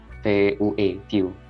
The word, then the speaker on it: Vue: Oke, sebelumnya jadi sebenarnya di program full stack JavaScript teman-teman itu bisa mempelajari Vue.js sekaligus Vue ya, Vue, Vue, bacanya Vue. Vue.js mungkin di Telegram minggu